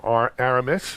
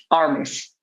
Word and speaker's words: Armis: So, Barak, I didn't mention that you are from Aramis. Or, is it pronounced Aramis or Aramis? Armis.